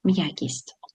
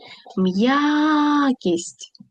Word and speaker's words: м'якість: Поставимо наголос. Погукайте. М'якість. М'якість. Наголос падає на я.